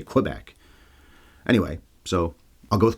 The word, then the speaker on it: Quebec: Although if you think about it, here in Canada, Quebec is actually pronounced, apparently, Quebec is how they would say it. The French would say it. We always say Quebec.